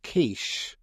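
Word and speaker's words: quiche: like a pub and he asked a barmaid for a quickie and the bar and the guy next to him said it's pronounced kiche.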